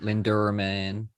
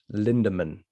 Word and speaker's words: Lindemann: You are So- putting an R. Linderman. Yeah, no, it's Lindemann.